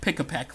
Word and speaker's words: Pikipek: I think they pronounced it Pikipek, like really fast.